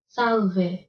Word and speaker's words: salve: the land of reading salve is the L in South silent is a question people ask a lot on Google in some parts of the world people pronounce Salve the way it is spelled but in the U.S